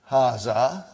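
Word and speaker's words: هذا: Haza. See, it is pronounced like haza. But this alif is not written. It is explained in the key also.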